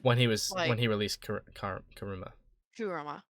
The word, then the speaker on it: Kurama: Kurama. Kurama, thank you.